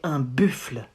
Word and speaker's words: un buffle: You say un buffle. Un buffle. Not un buffle. Un buffle. It's like buffle. Buffle. And same, it ends with a silent E that you don't pronounce.